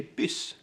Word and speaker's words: buss: In some parts you don't say bus for bus, you say bys.